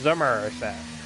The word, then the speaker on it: Somerset: It is, you think of every stereotype of Somerset, which by the way, may be spelt with an S and an O, but is pronounced like it's a Z and a U. It's Somerset.